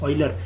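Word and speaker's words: Euler: pronounce ढंग से कीजिएगा दिस इज एन आइलर ये जो स्पेलिंग होती है ई यू एल ई R this is आइलर और ऑयलर इसको यूलर यूलर मत बोला करें ठीक है अच्छा नहीं लगता इट इज नॉट यूलर इट इज आइलर okay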